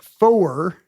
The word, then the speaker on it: four: 4 is officially pronounced four in the International Radio Telephony Spelling Alphabet. It's 2 syllables.